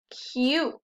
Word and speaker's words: cute: do we have here cute you that vowel team again makes the u say you one more mule m